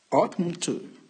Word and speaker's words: oughtn't to: Et la prononciation, ça va donner oughtn't to.